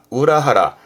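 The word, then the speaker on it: 裏腹: 발음은 우라하라. 앞에 우라 했었죠. 그렇죠?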